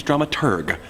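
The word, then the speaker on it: dramaturg: managers flash drama turd the correct pronunciation is drum at urgh the researcher of the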